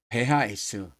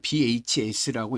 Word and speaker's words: BHS: 그 세학 세계 성서공에서 사용하고 있는 원전은 어떤 원전을 사용하느냐면 아 베화에스, 이블리아, 헤브라이카, 스트루트가르텐시아라는 성경책을 사용합니다. 뭐 왜 베하이스라고 읽었냐면 독일식 알파벳 이름으로 읽은 거예요. 아, 뭐 그냥 bhs라고 읽어도 괜찮습니다.데 데 그렇게 독일식 알파벳 이름으로